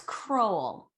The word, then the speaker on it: Kroll: don't know did you say crowl no it's crowl i did say it i practiced she got